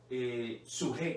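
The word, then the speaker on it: ψυχή: Después sigue suje, que se escribe P-S-U-J-E. Se describe en Mateo 16:25, porque el que quiera salvar la vida, suje, de su alma, la perderá.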